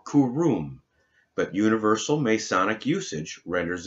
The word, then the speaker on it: Hiram: On page 329, it says Hiram, or Huram, meaning noble-born. The more correct pronunciation, according to the true value of the Hebrew letters, is Kuram, or Kurum, but universal Masonic usage